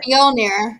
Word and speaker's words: Mjolnir: Mjolnir. You don't pronounce the J. It's like a Y sound.